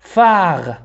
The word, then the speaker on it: phare: الحرفان P و H ينطقان ف. Un phare.